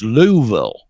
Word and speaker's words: Louisville: Is it Lewisville or Louisville?" And they'll go, "Well," they they'll go, "It's Louisville."